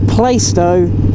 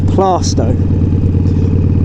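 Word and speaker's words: Plaistow: It's Plaisto. It's not fucking Plasto. Let's just draw that line there. There is no argument. That is the way it's pronounced.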